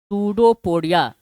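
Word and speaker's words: pseudopodia: इट is affected by सूडोपोडिया affected E double F ई सी टी डी इट is affected by सूडोपोडिया पी एस ई यू डी ओ P silent रहता है सूडोपोडिया या found by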